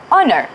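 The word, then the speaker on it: honour: the first question is what is similarity of pronunciation in these two words night and honor we don't say the first letter that's exactly what the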